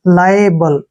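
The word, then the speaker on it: liable: ई simple है देखिए एल आई का उच्चारण हम यहां लाई के रूप में करेंगे ऐसे लाई ठीक है ना और ए का उच्चारण ए के रूप में लिखेंगे ऐसे और बी को ब और एल ई का उच्चारण ल लिखेंगे लायबल ठीक है ना लायबल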